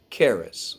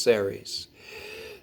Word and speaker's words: Ceres: through the discovery of the planetoid keras or sometimes pronounced ceres as a planetoid of